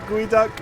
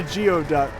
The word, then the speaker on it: geoduck: reaction to seeing a gooey duck. You spelled it how it sounds, so I read it how it's spelled. That's a weird way to think about it. I almost said a geoduck.